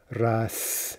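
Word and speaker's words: рас: this particular example right not only do we pronounce it as an s but we change the spelling right so we get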